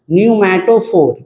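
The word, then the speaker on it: pneumatophore: पोर उसको बोलते हैं पी साइलेंट होता है न्यूमेटोफोर और वहीं से ये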